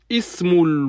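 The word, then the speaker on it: اسم: Ismu, on le prononce. Quand il est en début de phrase, on le prononce. Et quand il est en milieu de phrase, on ne le prononce pas. Il s'écrit mais ne se prononce pas.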